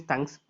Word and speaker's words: thunks: The other name for call by name is thunks. In short, we used to call it as thunks. The call by name would be otherwise, which is going to be called as thunks.